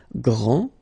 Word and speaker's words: grand: This final D is not pronounced. Okay, so grand, and then the feminine form, grande. Okay, so you put this E, and then you get the sound D, grande.